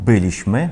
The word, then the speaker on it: byliśmy: Наприклад, слово «byliśmy», ми повинні так прочитати «byliśmy», але багато поляків прочитає «byliśmy».